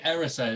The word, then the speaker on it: Erised: So I've got Erised, and I've like written it down phonetically so that when I'm doing the phone note, I've remembered it's Erised.